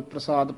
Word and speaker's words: प्रसाद: वाहिगुरु जी, और प्रसाद दा जिहड़ा उच्चारण है ये पप्पे दे हेठां चरणा च रारा है, इसका उच्चारण प्रसाद करना है।